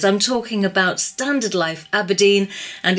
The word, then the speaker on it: abrdn: on the a96 to aberdeen be aware because the granite city's name has now been truncated to a b r d n pronounced aberdeen okay well that might